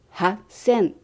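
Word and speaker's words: 八千: Vì san trở thành sanzen, nên chúng ta đọc là sanzen roppyaku. Quy tắc này ở hàng sen có hai cách: sanzen và hassen.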